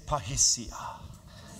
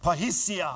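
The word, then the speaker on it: parrhesia: Repeat this after me. Say pahisia. Now say it like it's a confident sounding word. Say pahisia.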